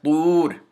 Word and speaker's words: طور: But when you replace that diacritical mark, the damma, with the letter wa, the long vowel wa, it becomes طور.